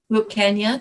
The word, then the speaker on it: Wilcannia: Her lineage comes through Wilcannia. Did I pronounce that correctly, Grandmother? Wilcannia. Wilcannia, thank you.